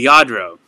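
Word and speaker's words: Lladró: dollars yadro right okay yadro the audro yadro that's how you pronounce it yadro veronica thank you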